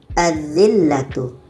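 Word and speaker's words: الذلة: Lam ada pada tulisan tapi pada bacaan tidak ada. Azzillatu.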